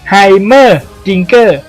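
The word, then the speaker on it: Heimerdinger: Goกle ของ Master E ชื่อ ของ เขา อ่าน ได้ 4 พยางค์ คือ Her Dinger หรือ จะ อ่าน ว่า Dinger ก็ ได้ แล้ว แต่ สำเนียง ครับ แชมเปี้ยน คน ต่อ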